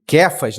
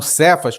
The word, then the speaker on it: Cefas: cfas e João né Depois eu vou falar essa essa essa pronúncia aqui tá de cfas né E não cefas como tá escrito Ah então eles eles